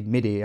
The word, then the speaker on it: MIDI: know I know it I know you say MIDI I know it's pronounced that way but I'm Swedish so it's me D me D me Triple